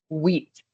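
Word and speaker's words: huit: Number eight is wheat. Remember H is the silent letter. It's more like wheat.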